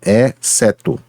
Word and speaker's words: exceto: Então, portanto, eu não posso pronunciar, por exemplo, exceto, mas exceto, em que, já que XC, nesse caso, é um dígrafo, tá? Então, exceto.